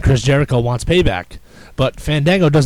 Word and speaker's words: Fandango: that's how he talks no you will say my name right and Chris Jericho says wait Fango and he and he says it like that like as Fandango walks away he goes no Fandango I haven't got my